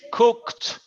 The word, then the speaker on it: cooked: It's cooked. Cooked. Yeah, the pronunciation, el ed termina con un T.